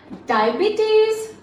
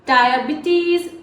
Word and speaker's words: diabetes: He has diabetes. Notice the pronunciation here. Diabetes Diabetes. It's not diabetes. See here, diabetes. Here, I I diphthong. This is a diphthong sound just like in higher, tire, and this one.